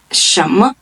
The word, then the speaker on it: 什么: First part of the word, there is a tone, the second tone, rising tone, and it's a neutral tone. And when you're pronouncing it, you don't have to emphasize it as other tones.